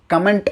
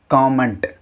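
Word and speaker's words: comment: கமெண்ட் அப்படின்னு சொன்னோம் இல்லையா, அது கமெண்ட் அப்படின்னு உச்சரிக்கக்கூடாது. காமெண்ட். காமெண்ட், நாட் கமெண்ட், காமெண்ட்.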